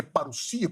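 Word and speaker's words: παρουσία: Ele disse que o termo parousia, alguns falam parousia, mas é parousia, porque nós temos o ômicron e o Y, que é um ditongo, que pronuncia isso como U, e o sigma não tem som de Z no grego, é som de S. Então é parousia.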